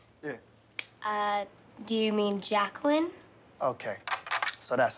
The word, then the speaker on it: Jacqueline: feel me okay let's take a roll here Jay quellin which they calling that no Jay quella here yeah uh do you mean Jacqueline okay so that's how it's gonna be y'all